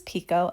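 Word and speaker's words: picot: Now I'm just adding on this is Pico elastic. It's spelled like Bacot, and you guys know this is my favorite.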